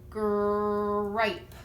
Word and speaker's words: gripe: And if we add a silent E on the end, that makes the I say I. So now we're going to have the word gripe. Gripe.